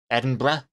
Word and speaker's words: Edinburgh: Edinburgh. That's how you pronounce that word.